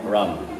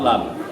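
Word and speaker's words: รำ: it when they're lazy they don't pronounce the RS as hard but grammatically it's spelled with an R not an L so it's rum either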